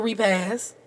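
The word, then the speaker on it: repast: have been to a repass repass so country you didn't me to a repass which is crazy that that is how you say that word because I had never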